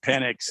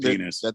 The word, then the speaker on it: Penix: Yeah, Penix, not. I said that. Michael Penix Jr. No, you said penis. That's an X. Sometimes the X is pronounced with an S.